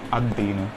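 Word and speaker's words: الدين: तो इसका सही प्रोनाउंसिएशन क्या होता है, अद-दर्सु और अद-दीनु, ठीक है।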